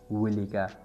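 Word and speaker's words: walk: right this मतलब द विका यानी right this the विलिका वॉक slowly तो वॉक स्लोली मतलब ज्यादा चिप जा या कलारा कलारा जा डब्ल्यू ए एल के वाल के एल साइलेंट वाक दे सही प्रोनाउंसिएशन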